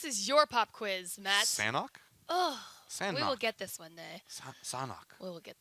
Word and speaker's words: Sanhok: Sanhok.